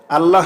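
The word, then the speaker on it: الله: মোটা মানে ল আর আল্লাহ শব্দের তাজদিদের ডাইন পাশে যদি এখানে জের দেখেন তাহলে পাতলা করবেন পাতলা মানে লা আমরা এখানে আল্লাহ শব্দের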